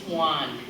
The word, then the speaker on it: Joan: thinking wait a minute that looks like the name Joan and you're right in English that is exactly how we spell that name my husband's oldest sister is a Joan and that's exactly how she spells her name we don't call her Juan we call her Joan but this is Juan and if you go